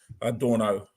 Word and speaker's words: Dornot: uh this Crossing at dorot dno as as the French pronounce it so what had happened